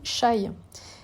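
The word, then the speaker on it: chay: voyage mais du coup ça se dit chaille pour végétarien et ça s'écrit ch aay donc voilà au moins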